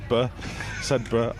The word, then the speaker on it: Sedbergh: Sedbergh.